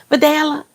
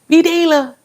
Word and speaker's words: Vidalia: She was giving all the Spanish pronunciation. She was like, "Vidalia." No, what she call her? Cuz it's it's Vidalia. She kept calling her "Videla.